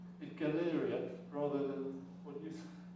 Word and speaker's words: Galleria: called The Galleria model you know Galleria where you go do your shopping but it's spelled the same way it's it's pronounced Galleria rather than what do